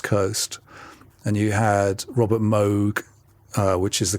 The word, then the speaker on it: Moog: So I guess you had uh BLA was based in the west coast and you had Robert Moog uh which is the correct way of pronouncing it.